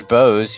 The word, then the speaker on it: Bow: that same mistake well unless you know that she wears bows you have no way of knowing that that her name is pronounced bow well you see the